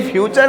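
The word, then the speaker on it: future: समझ गया कि जो प्रिंसिपल जिस कॉलेज का नेचर को नटुरे कहे, तो ये फ्यूचर है फुटुरे कह रहा होगा।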